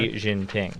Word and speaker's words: Xi Jinping: And maybe you'll have an opportunity because maybe if the president of China, now how do you pronounce his name, Connor? Xi Jinping.